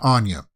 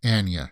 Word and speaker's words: Anya: It's not Anya. She said in one of these interviews, her name it's pronounced Anya.